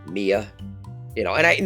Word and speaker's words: Mia: I said Maya and one reminded me it's Mia.